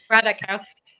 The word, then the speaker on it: Ratajkowski: kind of paradigmatic of this um the Emily Ratajkowski, I've always I'm just going to say Emrata, cuz I always butcher her name. I'm sorry, Emily, I know you're watching. Ratajkowski.